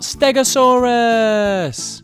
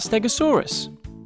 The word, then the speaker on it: Stegosaurus: to learn all about stegosaurus how do you say that again stare go can you say it with me go saw russ so what do we know about stegosaurus it was found in